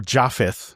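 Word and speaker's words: Japheth: cuz ye in Judaism yeet or jaffith you know however you want to pronounce it but in Hebrew it's yefett he was known to be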